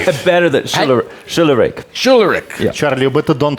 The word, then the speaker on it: Schularick: Schularick.